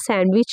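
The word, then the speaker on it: sandwich: सैंडविच सैंडविच बोलते हैं बट ये होता क्या है सैंडविच होता है है ना सैंडविच होता है इसलिए इसमें डी साइलेंट होता है क्या होता है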